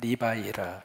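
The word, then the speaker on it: Levi: 그래서 발음을 어떻게 발음하느냐면 리바이라 그렇게 발음합니다. 그러니까 레위라고 하는 이 이름을 영어식으로 말하면 리바이라 그러거든요.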